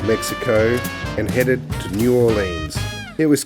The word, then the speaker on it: New Orleans: channel we're here in New Orleans now we Aussies like to pronounce it New Orleans but it's actually New Orleans uh so we've been